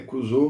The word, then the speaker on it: Crusoe: Então, mas eu sei que a pronúncia correta é Crusoe, mas vamos Crusoe para ficar mais natural, tá?